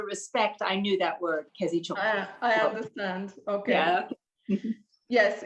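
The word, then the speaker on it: kezét csókolom: Kezi chokolom, exactly.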